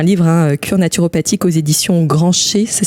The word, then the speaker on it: Grancher: Et donc, si on veut avoir plus de détails, tu as écrit un livre, Cure naturopathique, aux éditions Grancher. Ça s'écrit comme ça.